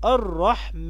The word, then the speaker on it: الرحمن: الرحمن، يبقى فيها حرف الألف ينطق ولا يكتب في هذه الكلمات.